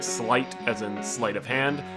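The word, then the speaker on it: sleight: used much also I know slate is technically pronounced slight as in slate of hand but everyone I know calls them slates and that sounds cooler so I'll be using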